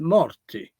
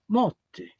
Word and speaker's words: morti: The word Sicilian word is morti, with an R, Morti. If you go to Catania, that word will be pronounced motti, two T's.